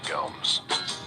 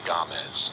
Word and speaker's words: Gomes: that interesting setup yeah this is ben gomes well the correct pronunciation is gomez this is ben gamez he knows a few